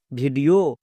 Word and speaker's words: video: sound হয়েছে যেমন ভি আই ডি ই ও ভিডিও ই ও O double F এস ইফস এবার